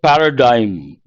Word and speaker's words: paradigm: and the last word Paradigm g is silent part of spe adjective